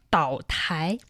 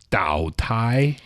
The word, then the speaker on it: 岛台: 岛台. 岛台. Island mean 岛, but it's not an actual island. Still some version of a counter. So it's 岛台.